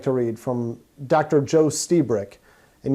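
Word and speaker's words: Lstiburek: read from dr joe stiebrick and yes i'm pronouncing his last name right the l is silent this is from an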